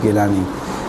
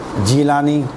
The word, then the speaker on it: گیلانی: کہا جاتا ہے جیلانی، وہ جیلانی صحیح نہیں ہے، جیلانی وہ حقیقت میں گیلانی ہے، جیلانی کچھ بھی نہیں ہے، تلفظ کی وجہ سے، چونکہ وہاں کے رہنے والے گاف کو صحیح ادا نہیں کر سکتے، وہ کہہ رہے جیلانی، کہاں کے رہنے والے؟ جیلانی، تو وہ جیلانی بن گئے، خیر اصل گیلانی ہے،